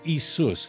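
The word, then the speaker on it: Ἰησοῦς: As Isus, that would be how you pronounce it in Greek.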